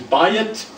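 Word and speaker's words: בַּיִת: Bayit, when it's combined with the word David, changes the pronunciation from bayit to Beit.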